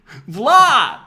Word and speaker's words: Vlad: My name is Vlad. Glad? Glad? Vlad. Spell it. VLAD.